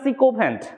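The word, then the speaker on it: sycophant: সব superlative next সিকোফ্যান্ট উচ্চারণটা psycho নয় উচ্চারণটা সিকোভ্যান্ট সিকোফেন্ট স্পেলিংটাও ঠিক করে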